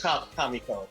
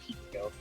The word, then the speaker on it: Kamiko: Oh no, it is Kamiko. Yeah, no, it Okay, is Kamiko, yeah. Yeah, yeah. So Kamiko, it is your turn. I was mispronouncing my own Pokemon's name for a while. I'm saying Kimiko.